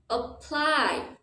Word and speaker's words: apply: the first syllable Apple now let's look at the word apply for this word your stress is on the second syllable so the vowel sound in the first syllable for the a sounds very different apply Apple apply for